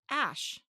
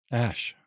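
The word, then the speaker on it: æ: Apparently the second character, the A-E, is a linguistic character and pronounced ash. Ash.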